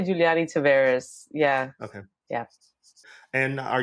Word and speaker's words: Juliany Taveras: that was great I mean it's I say Giuliani Tavares yeah okay yeah and are you based in